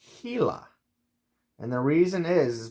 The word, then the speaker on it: Gila: language probably spanish and i know in spanish you pronounce the g's like like an h gila okay the gila monster and we got this little pronunciation guide right here he la he la so the